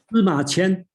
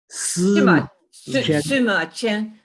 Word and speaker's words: Sima Qian: Sima Qian. Sima Qian.